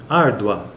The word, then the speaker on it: árdua: Veja que esse A ele é muito mais forte do que o U, por isso que ele é uma vogal e está no pico da sílaba.